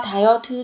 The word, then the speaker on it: 다이어트: Các bạn phát âm không phải là 다이어트, không giống âm tờ mà sẽ là gì? 다이, âm thờ.